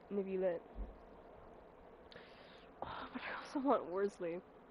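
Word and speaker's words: Wriothesley: but I also want Worsley wzly whatever the his name is I'm sorry but that is pronounced rly you cannot convince me you cannot convince me otherwise I was going to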